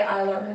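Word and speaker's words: Eylure: I really like all, I guess you would say Eyelure, that's how you say it.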